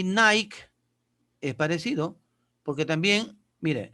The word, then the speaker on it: Nike: Pero como tiene la K y la E, Nike, Nike. No Nike, sino Nike. La E no suena.